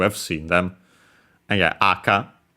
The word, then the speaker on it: 赤: seen them and yeah aka accent on the first uh syllable the first moa h high low red uh crimson scarlet